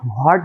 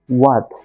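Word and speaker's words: what: ওকে, তারপরে কি আছে, হোয়াট, এটা কিন্তু আমরা হোয়াট বলি, অ্যাকচুয়ালি ইংরেজিতে কিন্তু এর উচ্চারণ হোয়াট নয়, এর উচ্চারণ কিন্তু ওয়াট।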